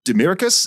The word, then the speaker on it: Demiricous: able to pronounce it correctly at all uh demiricus is that how you pronounce it yeah yeah yeah yeah yeah okay